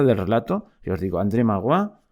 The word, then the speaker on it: André Maurois: relato, que os digo, André Magloire, supongo que se dice así, dicho tal como se pronuncia, André Maurois, por si hay algún francés que se escandaliza, y el libro se llama Historia de los Estados Unidos.